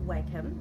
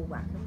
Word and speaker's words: Wacom: cheaper options we have, we use Wacom, or Wacom, whichever way you want to pronounce it.